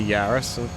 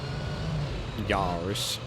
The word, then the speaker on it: Yaris: Yaris or Yaris. It's like how the French say Paris.